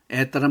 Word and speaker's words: это: 에스키모 그다 에따 에따란 말 나옵니다. 디스라 이것이 나타니다. 에따 근데 온데 아로 읽었습니다. 요건 이제 주로 이제 강세가 없을 때 우다니가 없을 때는 오바 발음이 아로 한다 겁니다.